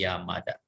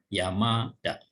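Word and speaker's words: 山田: Jadi biasanya kalau 2 huruf kanji menjadi satu kata, huruf kanji yang kedua kalau cara bacanya ada dakuong, itu gunakan dakuong. Dari ta menjadi da ya. Yamada.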